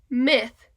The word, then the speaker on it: myth: Y in this word will Y make the sound of a short I or a long I it will make the sound of a short I because we only have one guardian and therefore this follows phonetic skill one day this word